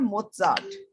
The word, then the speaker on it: Mozart: He indicated that a 10-minute dose of Mozart, इसकी pronunciation है Mozart, could temporarily boost intelligence.